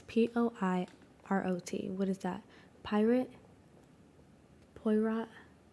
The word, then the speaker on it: Poirot: It's Poirot.